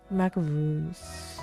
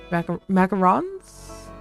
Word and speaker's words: macarons: Macaroons. I don't think I'm saying that correctly. It's the one with flour. In Navarre, those words look almost exactly the same to me. I don't think I can pronounce those two very differently. Macarons? Yes.